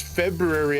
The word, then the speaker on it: February: caribbean should be like it's february actually there's an r in there another r the way you say it